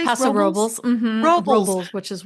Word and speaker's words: Paso Robles: blast, went up to, I won't say it right, but Paso Robles? Paso Robles.